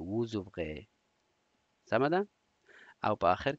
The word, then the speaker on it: vous ouvrez: nous ouvrons vous ouvrez vous ouvrez او بخیر vous ouvrez دا اس پکې تلفظ کېږي vous ouvrez.